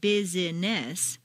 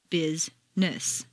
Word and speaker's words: business: actually spoken for example business is not bus but rather Bizness just when you get